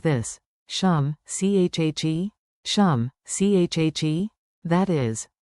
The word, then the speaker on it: શું છે: Pronunciation beat. Tap your desk, 2 beats, and chant with me. Beat it like this. Shum, chhe.